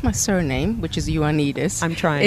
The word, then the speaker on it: Ioannidis: touch with you well if if they can pronounce my surname which is Juanita I'm trying it's your need is underscore